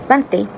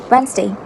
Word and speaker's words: Wednesday: So the right pronunciation for this word is that the n e s nurse is silent. So you can see the pitch here. It goes steadily static but then slightly increasing and the sound of the word wet wet. But you have to keep in mind that the word no no the sound of the consonant n is silent.